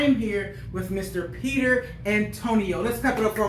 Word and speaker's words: Antoniou: which is where Antonio comes with the extra weird U at the end, because, you know, British people love adding U to a word. Yeah, I thought it was silent. I mean, it definitely is silent, but I was scared to say the name.